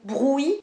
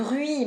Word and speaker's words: bruit: le prononce trop bien D’habitude, les gens sont tentés de dire “brOUit” Au lieu de “brUit” Au lieu de “Ui” Ils disent “OUi” C’est super dur de